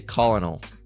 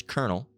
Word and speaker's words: colonel: But some people say colonal. All right. Colonal or colonal or colonal, right? It's not correct. It's kernel, right?